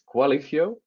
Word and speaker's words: Qualifio: It's Qualifio, like quality, but with Lifio on the end.